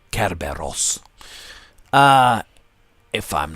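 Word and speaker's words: Κέρβερος: the greek underworld actually to pronounce it correctly in greek it would be kerberos uh if i'm not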